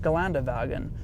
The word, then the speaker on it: Geländewagen: Geländewagen is actually pronounced Geländewagen, which is the Mercedes SUV. Now, that got me thinking, well, oh my God, if the W in German is pronounced as a V, well then BMW is